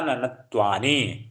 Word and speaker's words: ननत्वानि: हाँ, ननत्वानि, 2 ना है तो इनका भी पूरा उच्चारण होगा ननत्वानि।